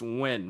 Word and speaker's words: Win: So my teacher goes, well, okay, correct me if I'm wrong, but your last name is pronounced win, right? I was like, yes.